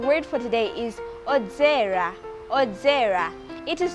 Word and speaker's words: odzera: Odzera. It is spelled as O-D-Z-E-R-A.